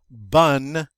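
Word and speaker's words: bon: adjective in the masculine bun in the feminine notice in the masculine it has a nice nasal sound but in the feminine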